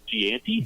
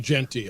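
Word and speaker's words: Jeanty: the country and whose name I'm about to mispronounce is Gianti. Genty, Ashton Genty.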